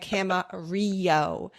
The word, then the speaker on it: Camarillo: And Camarillo. Actually, no, that's proper. I thought maybe because it's Spanish, right? That double L is a Y sound.